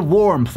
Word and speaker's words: warmth: "Warmth," pronounced with the "th" sound, which is produced by sticking the tongue through the teeth and making an S sound.